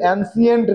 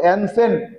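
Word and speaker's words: ancient: India এই অ্যানসেন্ট India এর উচ্চারণটা কিন্তু এনসিয়েন্ট না এই জায়গাটা লক্ষ্য করো এনসেন্ট বলো এনসেন্ট ইন্ডিয়া ইন্ডিয়া প্রাচীন ভারতবর্ষের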